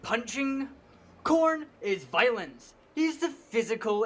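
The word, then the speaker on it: Khorne: So, you know, you say corn like the uh vegetable.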